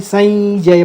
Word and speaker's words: संजय: च छ ज झ य तो यही उच्चारण आएगा तो हम इसको संजय ना पढ़ के संजय पढ़ेंगे।